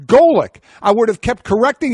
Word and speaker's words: Golic: up oh no no that's clearly garlic and I will do recalled garlic for the rest of your days it's Golic but isn't she change